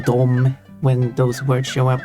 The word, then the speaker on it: dom: However, people typically speak these two words as dom for both of them. There's no pronunciation difference between them. They just say dom.